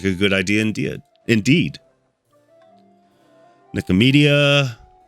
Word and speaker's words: Nicomedia: Nicomedia. It's like media about nicotine.